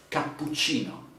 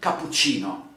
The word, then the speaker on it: cappuccino: say let's see cappuccino cappuccino has double p and double c okay puccino okay that would be so in italian you can say cappuccino because cappuccino is like if it's with just one p and one c but double p you're ready to stress it okay okay now i